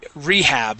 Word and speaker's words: rehab: prison okay good now this word would be rehab with the accent at the beginning rehab rehab okay and then murder murder